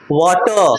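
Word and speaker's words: water: है ये इ है वोवेल लेटर के बाद क्या आया है आर आया है तो उसको क्या करना है साइलेंट कर देना है क्या कर देना है साइलेंट कर देना है ठीक है आ रहा है समझ मेंस हैं तो क्या पढ़ेंगे इसको वाटर क्या पढ़ेंगे वाटर इसको क्या पढ़ेंगे मास्टर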